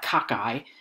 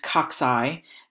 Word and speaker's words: cocci: is right here you you don't want to call that cockeye because then i think that you're talking about your your your head is cockeyed on your body or something like that um it's pronounced cocci or rods depending on what we're